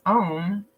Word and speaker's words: ohm: Your bibliomancy word I was drawn to is ohm, which is OHM, the unit of electrical resistance. It's pronounced the same as ohm, which is our chants